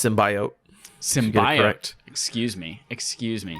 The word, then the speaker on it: symbiote: it's very cool uh first thing you said it wrong it's symbiote symbolic excuse me excuse